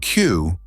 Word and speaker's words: queue: The word Q, pronounced just like the letter Q, is a fascinating example of how language evolves. Even if you drop its last four letters, U-E-U-E, it still sounds the same.